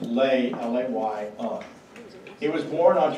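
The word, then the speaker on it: Löhe: So who was Pastor Leah, pronounced Lay, L-A-Y-A?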